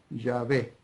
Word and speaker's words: Yahvé: Pero creo, por lo que vengo leyendo, vengo estudiando y vengo viendo, que lo más cercano para pronunciar esas 4 consonantes hebreas, Yod, Hei, Bab, Hei, es Yahvé.